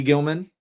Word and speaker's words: Gilman: It's Aloe Gilman. Thank you. Appreciate it. Oslime. Um, can also say I never pronounce it. I just always call him Gleman.